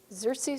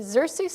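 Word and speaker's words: Xerces: and local initiatives one of them is the xerxes society for ah lovely thank you you can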